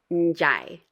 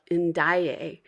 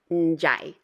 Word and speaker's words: Ndiaye: And again, that DI is pronounced as a J. So this name is pronounced Ndiaye. I hear a lot of Ndiaye, and that's not it. You can hear also that it kind of goes up into your nose.